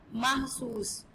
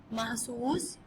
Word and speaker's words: محسوس: تو ہماری یہ کریکشن ہوگی یہاں پہ تلفظ کی کہ محبوب ہے اور یہاں پہ محسوس. میم پہ زبر ہے ساکن, سین پہ پیش اور سین ساکن. محسوس.